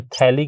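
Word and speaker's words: phthalic: हथेली एसिड जो है बोलने में तो इसे थैली कैसे पढ़ा जाता है लेकिन लिखने में पी ह लिखा जाता है जो की साइलेंट हो जाता है बोलते वेरी तो फिर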